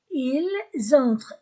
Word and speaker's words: ils entrent: Ils entrent, S entre deux voyelles, Z, ils entrent, E-N-1. La terminaison E-N-T du verbe ne se prononce pas.